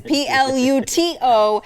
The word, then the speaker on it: Pluto: will have you know there is a T in there. It is Pluto, and I'm the one who's saying it right, and you all are the ones who are saying it wrong.